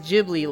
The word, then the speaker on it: Ghibli: Isn't it pronounced Ghibli for Studio Ghibli? Yes, but I hate saying it that way. The correct way to say it is Ghibli like a J.